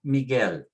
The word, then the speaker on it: Miguel: Next one, Miguel, ends with an L, so we put the stress on the last syllable, Miguel.